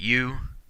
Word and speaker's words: eu: And our last prefix here, EU, is pronounced U.